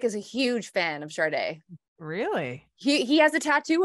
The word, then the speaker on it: Sade: I've never said it with the R. Oh, good. Sade. Yeah. That's how I've always said it. Have we relied on the ignorant to determine how we pronounce her name? Maybe. Ah, God. And it's only hit me now. Right. Like, wait a minute. There's no R in her name.